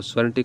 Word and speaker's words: sovereignty: हैं, स्वेरेंटी जो है संप्रभुता होता है, तो स्वेरेंटी का प्रोनाउंसिएशन ध्यान से देखेंगे हम लोग, और उसका